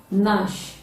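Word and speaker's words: gnash: the spelling g does not detect the the pronunciation not as a g n a c the g in that spelling is silence nash g n a s h register r e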